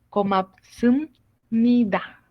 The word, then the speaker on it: 고맙습니다: Entonces acá lo primero pues viene siendo nada más que komapsum nida. ¿Ok? Sum. 고맙습니다. 고맙습니다. ¿Ok? Zoom. Con M, como estaba diciendo.